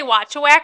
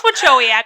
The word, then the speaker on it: Wachowiak: I always say Watchawack because that's how you spell it. So I'm always like Watchawack. And your Instagram handlers and stuff is Watcho, so I always say Watchawack. I know it's Wachowiak, okay, everybody?